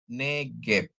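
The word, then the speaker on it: נגב: Gmail dan bet ya Nun dikasih segol ya bacanya ne gimel dikasih segol bacanya ge ditambah bet tanpa dages jadi bacanya negep Ya neep negep itu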